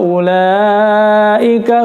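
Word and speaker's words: أولئك: Ulaika ala hudam mir rabbihim wa ulaika humul muflihun. Ulaika, perhatikan di sini u-nya tidak dibaca panjang ya, karena dummah tidak diikuti waw sukun.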